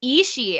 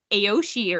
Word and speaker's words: Ishii: Like I rewatched the movie a couple of days ago and I was like, oh, it's Ishii. I thought it was like Aoshi or something.